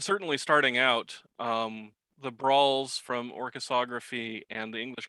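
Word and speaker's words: bransle: dance when we say brawl it's actually spelled b-r-a-n-s-l-e so it looks like branson but it's actually pronounced brawl okay go ahead were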